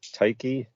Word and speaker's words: Tyche: And indeed, there was a Greek goddess, Tyche, I think is how that would be pronounced, who was the goddess of chance, who